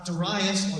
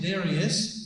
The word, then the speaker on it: Darius: And Darius, or Darius, the different people pronounce it different ways, stops the building of the temple until 520.